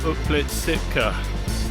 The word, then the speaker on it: Uplistsikhe: because I still don't know welcome to uplit Sitka and I know I'm saying it right cuz